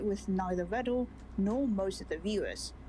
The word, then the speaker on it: Vedal: Oh, bro, I remembered, like, someone actually told me that Vidal isn't technically supposed to be pronounced like this. More like Vedal, probably.